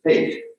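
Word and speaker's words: Haidt: his name is jonathan he pronounces his name okay i don't know a lot of people try to do something different he uses hate okay which is not all that comforting but that's intuition comes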